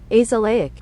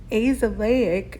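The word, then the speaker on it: azelaic: fight against free radicals now this is one myself that I thought was a short vowel sound and it is not so here's how you say this one AIC AIC is a chemical compound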